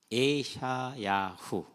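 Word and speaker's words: ישעיהו: 아, 이사야 좀 말이 우리가 발음하기 편했죠. 근데 예 샤 야 후 에샤야후 어 우리걸로 번역을 하면은 여호와는 구원이시다.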